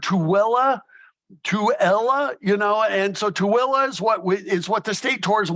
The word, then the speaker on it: Tooele: Tooele, although we've heard Tooele, you know, and so Tooele is what the state tourism website.